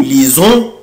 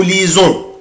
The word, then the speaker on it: lisons: lit, on lit, nous lisons, vous lisez, ils lisent, elles lisent. مش محتاجه بقى. انت عارف انا ليه بنطق هنا الاس زد؟ برافو عشان هي جايه بين دوبل فويل.